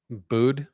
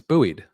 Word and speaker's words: buoyed: Do you pronounce buoyed as bu? What? Get out of our chat. Booed. No, it's buoyed.